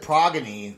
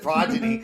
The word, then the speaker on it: Progyny: to pronounce it well I also said pagany earlier before we started the podcast and he corrected me and said progyny so I'm I'm used